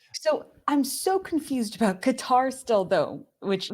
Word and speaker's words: Qatar: So I'm so confused about Qatar still, though, which, by the way, American accent, we would rather say something that rhymes with guitar rather than Qatar, like someone who's trying to kill continue, themselves.